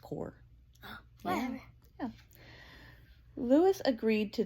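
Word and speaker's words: Corps: he would be called core of discovery it's pronounced core whatever yeah Lewis agreed to this Lewis asked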